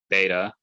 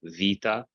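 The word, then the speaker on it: βήτα: Beta or vita in Byzantine Greek makes a V sound. Yes, it used to make a b sound, but it changed to be pronounced like the.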